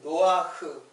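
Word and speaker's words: נח: 자, 그러면 그리고 요 배 노아흐. 노아우는 이제 이게 노아예요. 노아의 이제 헬라의 발음인 노아흐예요.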